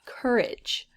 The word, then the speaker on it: courage: it usually makes but we don't pronounce it like that because the a-g-e makes the ig sound courage so i think that